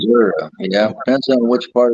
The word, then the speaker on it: Missouri: And then when I went to Missouri as the associate head coach and defensive coordinator, I really enjoyed that role because you're closer to the players.